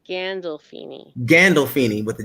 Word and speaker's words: Gandolfini: um james and and um now let me pronounce the last name correctly because is it s scandal feeney no it's gandalfini gandolfini with the g okay gandolfini okay james gandolfini